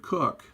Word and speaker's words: Coke: the 17th century Lord cook I know that looks like Coke but it's pronounced cook differentiated between natural persons